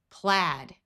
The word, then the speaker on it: plaid: In this word, ai has a short a sound. Plaid.